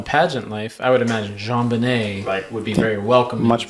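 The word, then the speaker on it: JonBenét: i always spell it wrong because it's always pronounced jean-banay so i always spell it like j-e-a-n but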